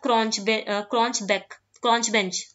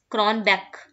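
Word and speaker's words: Cronbach: और एक होता है क्रॉन्च बेंच, क्रॉन बैक, बैक बोलते, बेंच नहीं बोलते, क्रॉन बैक्स अल्फा, ठीक है।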